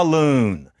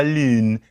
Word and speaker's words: lune: But really, you're supposed to say something like la lune. That's how they say it. Now, to us, it's, well, they say you in a cute and kind of fetching way. But actually, what they're doing is they're pronouncing a high front vowel, which has the Clara